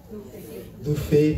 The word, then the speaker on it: Thubi: Because B in Kikuyu replaces F. Okay? Fafa, not Baba. Okay? So that B is pronounced as F. Okay? So you pronounce this as Thubi.